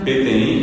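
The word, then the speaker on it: peteĩ: Y PTI se escribe así como se escucha, solamente la i final es nasal, solamente hay una nasalidad. No hayó, no hay otros acentos. Es p e t e i nasal ti y silla es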